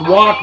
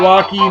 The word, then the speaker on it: Walke: That's Walk, not Walkie, not Walker. The E is silent.